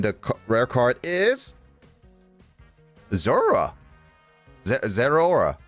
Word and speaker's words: Zeraora: Zeraora. Not Zera. It's Zora? Bleh. Zeraora. No. It's just however you want to pronounce it.